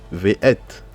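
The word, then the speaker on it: וְאֵת: Là, ça va se prononcer parce qu'on a le son E en bas. Et nous avons la lettre Tav. Donc ça se lit Ve'et.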